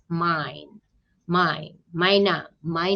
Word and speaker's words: mijn: So E and J, sorry, I and J, you will see a lot in Dutch words, and you pronounce it as A. Yeah, so when you see that word, I read it as mine, my naam, my name.